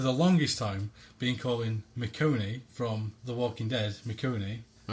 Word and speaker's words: Michonne: If somebody could post on Facebook or tweet or something and tell us how we should be pronouncing that. Right. I've been, for the longest time, been calling Michonne from The Walking Dead, Michonne.